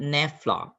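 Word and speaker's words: naphtha: to how to pronounce a word how to pronounce the word now we call that nefla n-a-p-h-t-h-a set low-down so it is not the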